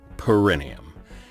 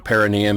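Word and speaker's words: Parrinium: planet excellent is perineum perineum the actors had to be very careful to put the emphasis on the correct syllable because if they didn't say perineum they'd wind up saying perineum and every time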